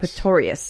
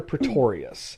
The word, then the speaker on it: Pretorius: no it's the pictorial dr. Pretorius Pistorius let me make sure because I kind of say it wrong sometimes yeah but it's a dr. Pretorius yeah and because dr.